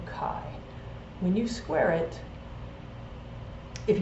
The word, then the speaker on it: chi: x is in greek the letter x is pronounced chi so chi square is the sum of the observed frequency